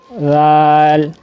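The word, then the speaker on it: ذال: تو زال کی ادائیگی کے وقت آپ میں یہ جو اوپر والے دانتوں کا یہ حصہ اور زبان کی نوک, اس کو آپ آپس میں ملائیں گے نرمی کے ساتھ.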